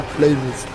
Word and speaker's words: Plymouth: Même si ça s'écrit TH, c'est la Plymouth.